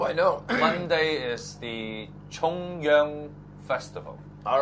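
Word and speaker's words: 重陽: to pronounce that again say chongyong Festival Chong Yong not Yong chongyong Festival chongyong yeah it's not Jong chongyong is different Jong is central government oh okay yeah you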